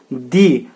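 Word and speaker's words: the: और यहाँ पे दी, इसकी स्पेलिंग तो सेम होती है लेकिन इसका जो प्रोनाउंसिएशन होता है वो हमेशा क्या होता है? दी के रूप में, और यहाँ पे यह द के रूप में होता है।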